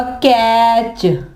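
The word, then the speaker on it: catch: इसके अलावा कैच कैच में भी टी आता है ना लेकिन यहां पर टी साइलेंट होगा तो टी जो है वो नहीं पढ़ा जाएगा इसके अलावा इसके एग्जांपल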